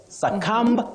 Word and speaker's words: succumb: avoid is saying suum succumb no because the B at the end of that word is silent you say succumb to succumb not succumb mhm okay that's interesting so